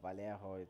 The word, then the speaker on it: Vallejo: here replaced by Vallejo Vallejo that's how it's pronounced it comes a corner